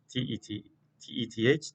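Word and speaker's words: Teth: Some of them have a silent H, some of them not. It starts with Tet, T-E-T-H, Tet.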